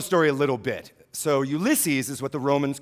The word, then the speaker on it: Ulysses: and yeah, Andrew, no, it's pronounced Ulysses, not Useless.